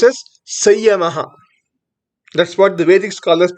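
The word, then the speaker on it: संयमः: Some people pronounce as Samyamaha, but it is correct to pronounce as Sayamaha.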